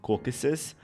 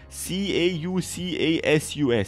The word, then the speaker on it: Caucasus: kids from the Tamer class was gathering around Caucasus, the Beetle Emperor that was now Velius's first and only summon.